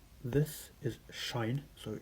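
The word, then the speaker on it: sinh: So the pronunciations this is shine so shine of x this is kosh of x and this is either pronounced tanch of x or fan of x.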